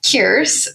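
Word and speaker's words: Kierse: And the premise of this book is that Kierce, which is spelled K I E R S E, and is pronounced like Pierce but with a K.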